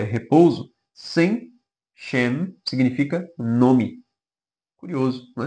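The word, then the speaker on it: שם: Como não é repouso, sem shem significa nome. Curioso, não é? Nome. O significado da palavra sem ou shem, que é a pronúncia, né, mais próxima ali do hebraico, é nome.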